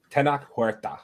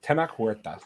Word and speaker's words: Tenoch Huerta: I think it's Tenoch Huerta. Huerta? Tenoch Huerta, I think, is how you say his name. Yeah, that sounds good. That's probably better than I would have done. Tenoch Huerta.